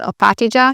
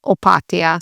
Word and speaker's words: Opatija: It's not Opatija, it is Opatija. So this one's rather simple. You just have to remember to switch the J to a Y sound and not a J sound.